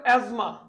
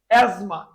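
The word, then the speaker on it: asthma: যে এজমা উচ্চারণ হবে এজমা এই যে এজমা বারণটা কিন্তু বহুত ঝামেলা আছে এটা উচ্চারণ করতে হবে না কিন্তু এখানে কিন্তু টিএস টা উচ্চারণ হবে না এই টিএস টা উজ্জ্ব থাকবে উচ্চারণ হবে এজমা এজ মাহাপানি এই যে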